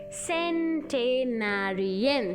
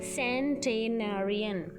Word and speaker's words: centenarian: One who is more than 100 years old, centenarian. See the pronunciation, centenarian, CENTENARIAN, century.